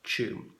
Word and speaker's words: Tuam: name T you am despite the spelling it's pronounced qu and from 1925 to 1961 that was a